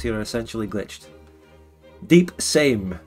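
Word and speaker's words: Sejm: Is it pronounced shame? Shame? Or same? Shame. Shame. So it's just shame. Shame on you. Shameful display. Same. Is it S? Is it S or sh?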